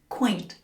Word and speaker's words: quaint: Quaint. Just one syllable. Quaint. Attractive because it has an oldfashioned and unusual look like from a fairy tale.